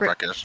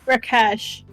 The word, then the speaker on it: Rakesh: No, it's not Rekish. It's an R name. I think it's pretty Rakash, right? Rakesh. Rakesh. Yeah, we were close.